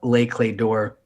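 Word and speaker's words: Les Clefs d'Or: even right like try it try it let's pronounce it um and for those who maybe don't know uh lay clay door and uh i did not know that until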